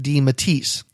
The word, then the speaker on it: DeMatteis: we determined at that time that we were pronouncing it correctly by saying DeMatteis.